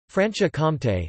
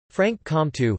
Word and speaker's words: Franche-Comté: Franche-Comté, French pronunciation, FKT, literally, free county. Franche-Comté, Franche-Comté, Arpiten, Franche-Comtat, German, Freigrafschaft, Spanish, Franco-Condado, is a cultural and historical region of eastern France.